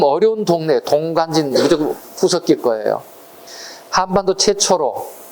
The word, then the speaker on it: 동관진: 발음이 되게 어려워요. 발음을 빨리 해볼까요? 동강진, 동강진 무슨 발음인지 몰라요. 발음이 빨라지면. 발음을 천천히 하면 동관진이에요. 그러니까 되게 발음 어려운 동네, 동관진, 무조건 구석기 거예요.